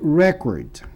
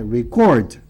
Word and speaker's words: record: Se for substantivo é record. Se for verbo, é record.